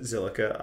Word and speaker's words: Zilliqa: How do you pronounce it? Zilliqa, obviously.